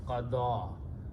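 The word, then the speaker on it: قضى: is he, some person, and this ya with a fatha is written as a short alif and pronounced qada.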